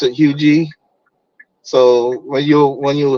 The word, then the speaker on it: Huger: Hui street it's it's pronounced hug but it's it's spelled h u g e r some I used to say Huger but they pronounce it hugi so when you when you hear it it